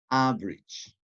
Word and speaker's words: average: Average, average, 2 syllables as well.